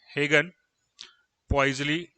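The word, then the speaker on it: Hagen–Poiseuille: अगर circular pipe से laminar flow हो रहा होता है तो उसको हम कहते हैं हेगन, HAGEN, हेगन पॉइजली फ्लो।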